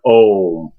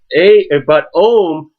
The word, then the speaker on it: Om: A metaphor for this is the word Om, which is often it's spelled A-U-M. But when you think about the sounds, okay, we look at ah, the sound. It starts at the back of the throat, and it represents the beginning.